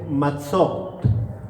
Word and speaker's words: matzot: Panes sin levadura se dice matzot. Matzot. ¿Cómo se dice? Matzot. Con T al final, matzot.